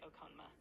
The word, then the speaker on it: Okonma: How do you say Tyler the Creator's real name? Tyler the Creator's real name is Tyler Gregory Okonma. Right. Okay. Okona.